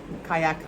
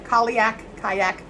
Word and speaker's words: Cailleach: But I'm feeling, because of this Cailleach, earth meets water, where the shore meets where the water meets the shore and the earth come together.